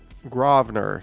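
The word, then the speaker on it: Grosvenor: thank you again vivian john says it's groveler oh gravener spelled pronounced g-r-a-w-v-n-e-r as found on that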